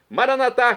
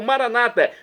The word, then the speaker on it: Maranata: E agora eu clamo do aramaico dialeto de Jesus: Maranatá, como dizemos nós católicos, ou Maranata, como dizem nossos irmãos separados, os evangélicos ou protestantes. Não importa a pronúncia, o significado é o mesmo.